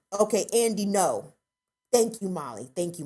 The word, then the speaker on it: Ngo: black folks have enough going on it's it's pronounced no okay andy no thank you molly thank you molly see molly